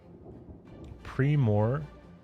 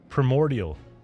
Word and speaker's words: primordial: to hit the preoral that's how you say it primor primordial the primordial it's not Primo I'm just used I'm